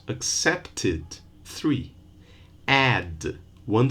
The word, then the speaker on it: accepted: Accept, two syllables. Accepted, three.